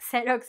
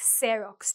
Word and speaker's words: xerox: But really, it's like if you think about xerox, you can master two rules in one word because it's at the end of the word, like xerox, and at the beginning of the word, like xerox. So think about the photo. When you're making a copy, think, oh, the X sound.